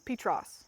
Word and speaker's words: Petros: you say it yeah it's not petrus it's petros i'm sorry would you